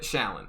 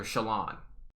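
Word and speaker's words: Shallan: just throw an sh in front of it shaolin that's her name but then i come to find out everyone calls her shalon it's just like that's stupid her name is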